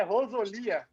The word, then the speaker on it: Rosolia: Eu te conheço, acho que uns 6, 7 anos, e eu sempre chamei de Guilherme Rosolia, mas é Rosolia. Tá É brincando? Rosolia, cara. Não queria te corrigir, mas é Rosolia a pronúncia certa do nome.